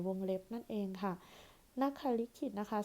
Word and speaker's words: นขลิขิต: เล็บ นั่น เอง ค่ะ นัก ขลิขิต นะ คะ สะกด น หนู ข ไข่ ลลิง สระ อิ แล้ว ก็ ขข สริ ต เต่า ค่ะ นักขา ลิขิต นะ คะ หรือ วง เล็บ นะ